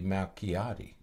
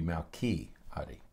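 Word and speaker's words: Malchiodi: So this would be Malchiati. Okay. Is how you would pronounce her name, because the CH wouldn't be Mao Shi or Mao Chi, it would be Malchiati. Okay. So Kathy Malchiati.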